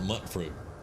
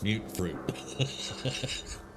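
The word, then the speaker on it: Mutfruit: Yeah, but it's it's just like half the community still can't pronounce mute fruit. They call it mut fruit. It's mute fruit.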